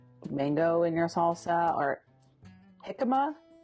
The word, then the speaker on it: jicama: So if you have mango in your salsa or jicama, how do you pronounce it? Jicama?